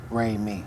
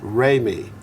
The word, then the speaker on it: Remi: Most folks get it wrong and say it's Salaam Remi. Including me. Including you? Mm-hmm. But we know it's Salaam Remi. Say it right? Remi. Remi. Do, re, mi.